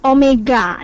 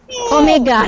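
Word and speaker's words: ω: anguler ini kita simbolkan simbol Omega dia memang seperti W tapi kita bacanya Omega dalam arjuni ya besarnya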